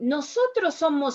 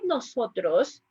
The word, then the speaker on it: nosotros: couple of things here when you say nosotros try to avoid the nosotros try to set it no it's a little bit harder i know nosotros somos familia nosotros that's a little bit more more pure the sounds another thing english can